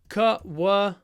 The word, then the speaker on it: choir: this word qu yes we write c h o r but we say cqa yeah qu I used